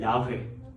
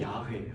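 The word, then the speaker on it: 야훼: 야회. 야. 이게 야회예요.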